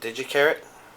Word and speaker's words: Gi Charat: Well, I've kind of heard it pronounced 2 different ways, but I pronounce it Gi Charat.